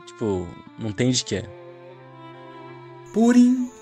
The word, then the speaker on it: Purim: Aqui em Israel, nós não falamos Purim, nós falamos Purim.